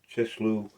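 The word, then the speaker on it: Chisleu: 71 in English scripture calls it chishloo I'm saying That right? C H I S L E U as opposed to just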